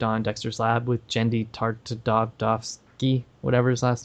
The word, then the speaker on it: Tartakovsky: and he worked on dexters lab with genndy tartakovsky whatever his last name is yep that's how